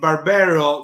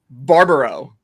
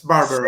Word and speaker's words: Barbaro: The first time we had like our music guy, Sander Gomans, pronouncing it Barbero, somebody sent me a meme with Alessandro Barbero, the professor. It was pretty fun. Well, I'm gonna just butcher the hell out of it. So it's for everyone out there that's from the Bronx or New York. It's Barbaro. Yes, that's more correct.